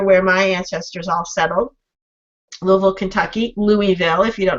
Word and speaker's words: Louisville: Louisville those are where my ancestors all settled Louisville Kentucky Louisville if you don't know how to